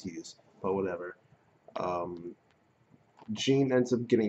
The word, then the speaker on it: Hyuse: So it probably is pronounced Hughes, but whatever.